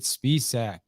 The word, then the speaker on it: Spisak: for you guys we are with mr david spiessack i hope i even said your last name